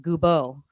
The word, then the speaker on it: Goubeaud: last name all right the last name is very French so there's no D and it is pronounced Gobo goo my CH goo